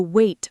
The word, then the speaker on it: weight: The stress, carrying the weight of. And weight sounds like wait. Same pronunciation, different spelling. w e i g h t, wait. The silent g h.